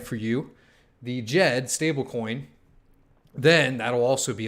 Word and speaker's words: Djed: these sites, and then once we have the Djed, there I said it right for you, the Djed stablecoin, then that'll also be a lot of them.